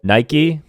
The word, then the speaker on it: Nike: Nike, Europeans say Nike, right?